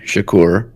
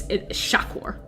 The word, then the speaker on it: Shakur: clarify on the pronunciation it's shakur i know we're a lot there's like a lot of like uh shakur like tupac shakur but it's shockwar emphasis on the shock i know there's some